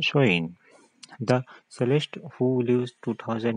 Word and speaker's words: Samhain: Halloween’s origins date back to the ancient Celtic festival of Samhain (pronounced sow-in).